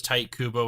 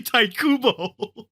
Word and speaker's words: Tite Kubo: But I mean, no, if it's phonetically tight. it would make sense, but it's actually Taikubo.